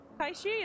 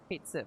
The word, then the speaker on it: Kaishi: Kaishi is here. Fucking weird cat. Kate Sif, yes, but it's pronounced Kaishi.